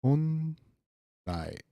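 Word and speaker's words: 本来: Okay, so the reading on this would be something like honrai, honrai, 本来 honrai.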